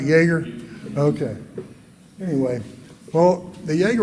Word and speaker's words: Jaeger: making their Jaeger rifles Jaeger rifles pronounced spell j-a-e-g-e-r I think I'm pronouncing it am I pronouncing it right Jaeger okay anyway well the